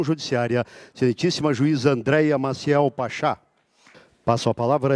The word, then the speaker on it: Pachá: Convido para compor a mesa e proferir a conferência com o tema O Juiz e a Instituição Judiciária, excelentíssima juíza Andréia Maciel Pachá.